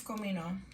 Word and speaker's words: comino: add ground cumin uh Comino so in Spanish it's Comino so like if you hear recipes on YouTube or Mexican recipes they ask for Cino it's just cumin okay so this I'm